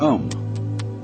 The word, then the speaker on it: Om: sound is used because if you spell it out a u m it runs from the back of your throat to your lips and therefore it contains the whole range of the voice and for that reason